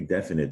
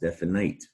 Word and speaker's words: definite: think it's it's pronounced definite it looks like night at the end but definite it's a short i sound there has to do with the root word finite we talked about being